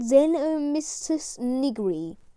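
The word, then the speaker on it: Xenomystus nigri: zen and mr sniggery pronunciation zeno mysticism nigri size is 30 centimeters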